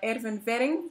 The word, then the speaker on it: Erwin Werring: today we are being joined by Erwin Wering from Amsterdam, from the company Atrace, the CEO and founder.